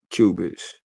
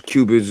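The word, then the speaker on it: qubits: So cubis is you know, like a cubic, but they spell it with a qu u b i ts.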